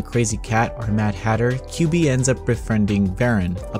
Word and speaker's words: QV: QV is a strange name for a game, but what's even more strange is the protagonist, whose name is pronounced QB.